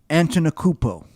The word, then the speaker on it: Antetokounmpo: I'm impressed you could pronounce his name correctly. I still can't. Giannis, can you say last name again? Giannis Antetokounmpo.